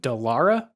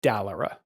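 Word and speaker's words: Dallara: name of this company is it delara or dalara I'm I'm gonna let you take the hit on that one I think it's delara um they're an Italian company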